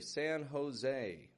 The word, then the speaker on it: San Jose: And what I'd like to point out in this place here, San Jose, when we pronounce that "and," the A and the N, notice how I'm stretching that out.